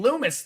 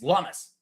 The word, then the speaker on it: Lummis: Lummis rhymes with hummus. I've been saying Lummis the whole time, but apparently it's Lummis.